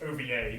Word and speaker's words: OVA: Nick, at least you pronounce it OVA, not over.